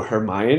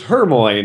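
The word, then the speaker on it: Hermione: that way or oh hermion is how you say it I always said it as Hermoine or you know you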